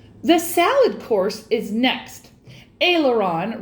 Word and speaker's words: aileron: salad course is next aileron rhymes with sailor john and comes from the french serve the ailerons with